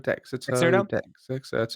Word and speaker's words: Dexerto: Dexerto, yeah.